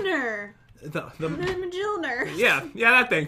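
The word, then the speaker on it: Mjölnir: All right, next up, we have Thor's Hammer, which I can never pronounce properly. So this is it. 303. It's Mjolnir.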